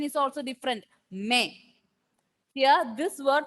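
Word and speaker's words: mais: M-A-I-S without trema. Okay, when this pronunciation is may.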